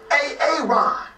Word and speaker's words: Aaron: So why didn't you say it the first time I said A-A-Ron? Because it's pronounced Aaron.